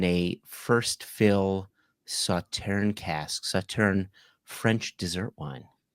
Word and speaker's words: Sauternes: Um, I was told that it is pronounced sautan that the s is silent.